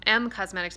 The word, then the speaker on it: Em Cosmetics: They are from a brand new collection called the Magic Hour Collection, and this is from M Cosmetics, by the way. It's spelled E-M.